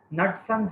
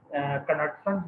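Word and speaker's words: Knudson's: इसके अंदर जो के है तो दैट इज साइलेंट, कनटसन्स नहीं कहना आपने।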